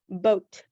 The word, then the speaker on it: boat: t that is boat now wait a minute that o does not sound like ah right it's O because the